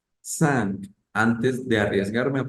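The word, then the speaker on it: cinq: Ah voy a revisar la in en francés suena a entonces voy a decir sang sank antes de arriesgarme a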